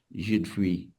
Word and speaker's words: jus de fruits: it may be that the fact that the de, the muti in the de is not pronounced, so it's jus de fruits, jus de fruits.